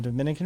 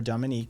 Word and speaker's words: Dominica: on um not the dominican republic but dominica dominica or dominique depending on how you pronounce or where you're from um and puerto rico